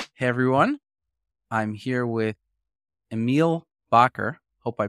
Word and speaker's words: Emil Bakker: I'm here with Emiel Bakker. Hope I pronounced your name correctly.